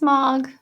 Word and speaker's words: Mog: that's a good question his name is not mug it's mog with an o i have another friend